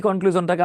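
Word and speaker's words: conclusion: এই কনক্লুশনটাকে আমরা এখন এক লাইনে লিখবো। তার আগে দেখেন, প্রশ্ন হচ্ছে কনক্লুশনটাতে আমরা কি লিখবো? হ্যাঁ, এটা উচ্চারণ হচ্ছে কনক্লুশন, আমরা অনেকে শন বলি।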